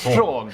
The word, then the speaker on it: Sean: And it's like, no, it's pronounced Sean.